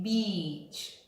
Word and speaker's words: beach: Remember, you want to say beach. When you say beach, you smile with the E, beach. And it's a long sound, beach, the beach.